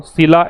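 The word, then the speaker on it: Scylla: Idioms पूछे आपसे, between सीला एंड कैरिबडिस, इसका प्रोनाउंसिएशन बता देता हूं, सीला एंड कैरिबडिस।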